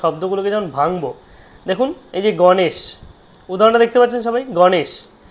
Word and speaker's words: গণেশ: এবার সটা কি খালি স যদি খালি ব্যঞ্জন করি তাহলে উচ্চারণ কি গণেশ এরকম হওয়া উচিত তারপরে অ থাকবে না তাহলে এখানে যদি প্লাস দিই তার সাথে অ যুক্ত করে দেব গণেশা এইবার দেখুন যখনই আমি